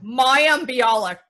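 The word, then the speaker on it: Mayim Bialik: Say her name right, because nobody can pronounce it. Maya Bialik.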